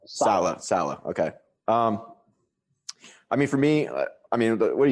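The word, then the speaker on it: Saleh: It's Slay, right? Like you say his name? Salah.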